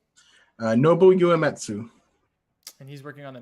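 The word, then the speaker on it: Nobuo Uematsu: Nobu Uematsu.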